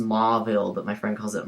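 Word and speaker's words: Mauville: reminds me of a maul it's it's it's pronounced mville but my friend calls it mulville because of it but that's not but just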